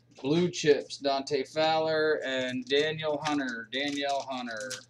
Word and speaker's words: Danielle: Chips, Dante Fowler, and Danielle Hunter, Danielle Hunter. I think they actually pronounce that Daniel.